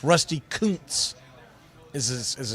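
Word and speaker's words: Kuntz: It's Rusty Counz is as it's pronounced, but you can imagine the jokes that go around for Mr.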